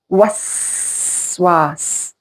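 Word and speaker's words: وسواس: There's some words in Arabic language which give away what means as a waswas. Did you hear the whistling sound? Waswas. Waswas. Whisper. When you do whisper, that's what you do. Was. Did you hear the whistling sound? Yeah, whisper. Yeah, waswas. It gives away the meaning.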